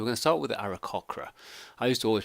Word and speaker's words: Aarakocra: gonna start with the era khakhra I used to always pronounce the era Cora but there is actually a C in there so I'm gonna go in era khakhra and they are a